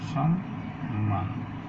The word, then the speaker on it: সম্মান: তারপর দেখো সম্মান, মধ্বনির সাথে রয়েছে তাহলে সম্মান।